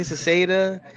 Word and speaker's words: Sauceda: I say Cicada because everybody messes it up. So I always say Cicada, Sauceda, in Sauceda.